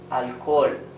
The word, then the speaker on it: alcohol: In the middle of a word, alcohol. Alcohol. You see, in both cases, the letter H is completely mute.